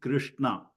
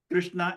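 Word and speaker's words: Kṛṣṇa: So even the name Krishna, the R in Krishna, it is not Krishna, but we always see it spelled as K-R-I.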